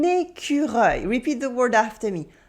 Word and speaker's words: écureuil: How do you pronounce this? It is un écureuil. Repeat the word after me. Un écureuil.